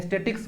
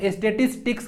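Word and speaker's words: statistics: ये top word है इसको बहुत लोग गलत प्रोनाउंस करते हैं स्टैटिक्स बोलते हैं इसको नाम तो स्टैटिसटिक्स होता है क्या होता है statitis इसको अब से गलत मत punoj कीजिएगा स्टेटस पिक्स होता है नेक्स्ट आता है रेस्टोरेंट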